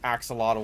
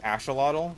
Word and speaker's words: axolotl: understanding is that, like, X in Spanish is pronounced like SH. And so something like axolotl would be like axolotl, but everyone pronounces it axolotl because, like, hey, we're Americans, that's how we read it, that's how we say it.